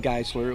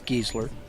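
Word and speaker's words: Gessler: Drew geser's name ra I was saying gisler it was it's gesler and we did mahurin I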